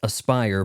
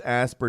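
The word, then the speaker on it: Aspyr: 1996 wasn't ready for yes that's pronounced Aspire but since I don't have nearly 8 million idiot subscribers I must be saying it wrong those concerns this asper developed remaster Gamers the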